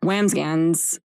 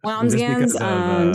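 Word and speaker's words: Wambsganss: The person that he was running against, Taylor, was running against a woman, Wamsgans. Is that how you say it? I think it's Wamsgans.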